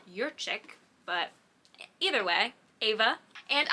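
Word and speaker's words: Jurczyk: it up your check it looks like it's polish it's pronounced your chick but either way Ava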